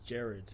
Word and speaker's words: Gerard: get this every day it's um it's actually Jared Jared Jared but um you know the hardest is when I'm ordering a coffee coffee yeah like what's your name j always say Jared jar I just say d now cuz I'm